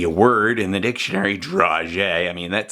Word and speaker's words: dragée: It looks like it should, and it's not really in focus, but it looks like it should be pronounced dragees, but it's the word dragée.